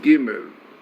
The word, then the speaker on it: Gimel: So if you remember, we discussed about Gimel Dalet as good, but basically the meaning of those letters are Gimel, which is pronounced Gimel, which is like the Hebrew word Gomel, benefactor